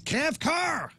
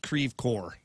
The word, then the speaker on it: Creve Coeur: I'm like, that's Cav Car. That's like Broken Heart. Is that how it's supposed to be? And Well, then I know it's Broken Heart, but I don't know how it's supposed to be pronounced. it's not Creve Coeur.